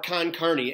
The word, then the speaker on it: con carne: is a food question chili con carne or con carne as in chili usually what does the con carne mean again con carne it's spelled Co n c ER and E con